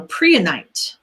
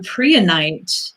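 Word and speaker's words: prehnite: last down but they said this and so Priya night Priya night and three tonight is spelled p r e h ni te here's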